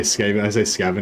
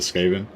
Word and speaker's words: Skaven: I'm scaven like yeah I say scaven instead of skaven and what else a